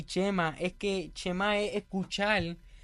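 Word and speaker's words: שמע: además de este cham hay un Chema se pronuncia Chema que significa escuchar que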